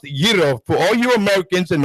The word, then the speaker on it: gyro: gyro okay now gyro i mean you said gyro i don't want to hit gyro it's called yiro it is pronounced giro for all you americans and all greeks out